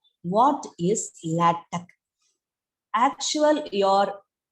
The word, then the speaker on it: LaTeX: Actual, your spelling is LATEX, but we can't say this latex, LaTeX or LaTeX. Okay, LaTeX or LAY hyphen tech, TECH, tech, or LaTeX. Okay, so this is the pronunciation of this word.